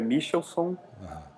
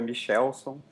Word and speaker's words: Michelsohn: se pronuncia seu sobrenome então no Rio de Janeiro é michelson em São Paulo é michelson e você pode escolher qual você preferir aí eu sou paulista